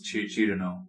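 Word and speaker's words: Cirno: The official way to say it is Chirno. But yeah. Chirno, So, I would say Cyrano.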